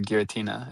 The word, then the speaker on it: Giratina: I went back and played Platinum later on, and I was really into Giratina. Is that how that's pronounced?